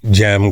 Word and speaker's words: Gem: So, but it's spelled with a J. Yeah. I put the G in front of it because it just looks better, right?